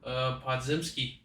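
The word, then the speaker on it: Podziemski: How you pronounce his last name, Jordan? Podzimski.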